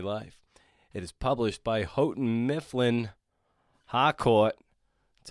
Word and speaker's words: Houghton Mifflin Harcourt: It is published by Houghton Mifflin Harcourt. That's how we pronounce it.